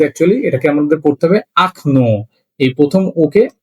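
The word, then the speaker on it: окно: সেটা হল আকন ও কে এনও একচুি এটা উচ্চারণ হয় উকন কিন্তু একচুয়ালি এটাকে আমাদের পড়তে হবে আকন এই প্রথম ওকে আ হিসেবে পড়তে হবে।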